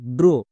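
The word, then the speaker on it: draw: ও লেখার দরকার নেই ডি আর এ ডব্লিউ ড্রো এটা হচ্ছে সঠিক উচ্চারণ একই রকম ভাবে দেখো এস এল এ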